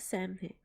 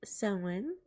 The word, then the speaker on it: Samhain: New Year's celebration of Samhain. It's usually pronounced Samhain, but I know that some people pronounce it Samhain, including me.